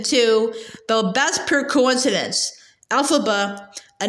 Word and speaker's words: Elphaba: of the West has a name alphaba it's pronounced alphaba with a pronunciation on the first of the three syllables the way Dorothy is and for that matter Margaret and Hamilton too the best per coincidence alphaba a name derived from the initials of the